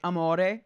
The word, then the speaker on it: amore: So like for example, like amore, which means love. Amore, which is like the emphasis is on the more of the amore, but the re doesn't really get as much emphasis.